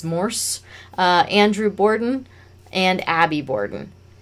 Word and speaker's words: Morse: Morris is spelt wrong. It's Morse.